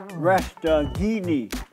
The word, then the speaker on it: Resteghini: I have with me today, very interesting guy, Dale Resteghini.